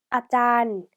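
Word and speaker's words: อาจารย์: 다음 단어는 아짠, 아짠, 아짠이라고 발음을 하고요. 자, 선생님이 1강 때 드렸던 팁 기억나시나요? 앞뒤로 이렇게 장모음을 쓰는 경우에는 앞에는 뒤에보다 짧게 발음한다라고 가르쳐 드렸죠. 그래서 아짠, 아짠 하고 발음해 주셔야 해요.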